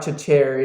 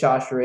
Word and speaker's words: Chachere: Yeah, by the way, it's not Chachere. It is Chachere.